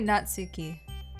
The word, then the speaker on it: Natsuki: it's not the same you can say natsuki it's not tsu not to key just like that every time please don't